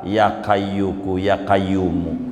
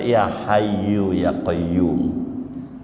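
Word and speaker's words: يا حي يا قيوم: Orang Jawa aja yang bacanya salah bisa nyampe ke Mekah. Bacanya salah. Ya kayyuku ya kayyumu. Ya kayyuku ya kayyumu. Padahal ya hayu ya kayyumu. Ya hayu ya kayyu ya kayyumu. Ya hayu. Ya bacanya ya kayyu. Ya kayyumu. Ya kayyu ya kayyumu. Nyampe Mekah. Yakin. Padahal ya kayyu ya kayyumu. Padahal ya hayu ya qayyum.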